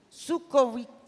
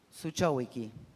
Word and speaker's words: Zuchowicki: Y nos está acompañando uno de sus directores, Sukovic. Ay, perdón, ¿cómo lo pronunciamos? ¿Cómo es? Decímelo una vez y me lo aprendo. Suchowicki.